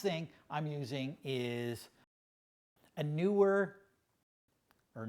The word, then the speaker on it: Neewer: And then the last thing I'm using is a Neewer, or Neewer, I'm not exactly how to pronounce it. Looks like it's Neewer with an extra E.